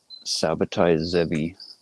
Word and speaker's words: Sabbatai Zevi: He talks about Septai Tzvi, what most English speakers would pronounce as Sabbatai Zevi, the dude that took